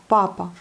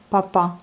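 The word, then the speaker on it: папа: Papa. Vous voyez, c'est accentué sur la première syllabe. Donc papa. Non pas papa, comme en français, mais papa.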